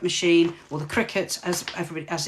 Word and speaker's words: Cricut: time because i've been so involved with the crycut machine or the cricut as everybody as it's actually pronounced all these silhouette machines that i've neglected